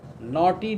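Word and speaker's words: knotty: his father developed the naughty disease, naughty, K-N-O-T-T-Y, naughty disease, the disease that makes them very poor, physically lean and thin, that invites so many disease. Naughty disease, D-I-S-E-A-S-E. Don't get confused about pronunciation.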